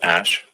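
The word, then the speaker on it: Æ: And then the AE is like pronounced Ash.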